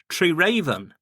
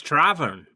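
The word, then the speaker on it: Treraven: And the reason I say getting the pronunciation right is because it's actually spelled Treeraven, or that's what it looks like, Treeraven. And it's Travern.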